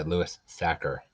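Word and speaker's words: Louis Sachar: at the library years ago this is by louis sacker that's how you say his name he also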